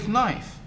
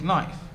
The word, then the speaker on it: knife: school when you said knife? I'm sure you wondered when you learned the spelling of these words one day. Why do we spell it with ka when we don't say it?